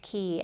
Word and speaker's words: Quay: of mirrored aviators by Key. It looks like Quay, but it's pronounced Key.